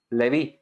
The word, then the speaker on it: Leví: Y Leví, se pronuncia igual. Leví significa unido o adherido.